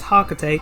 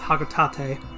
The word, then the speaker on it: Hocotate: hocotate by the way it's actually how it's pronounced coco tate a lot of people say it's haka tate but no it's hakutate analysis shows life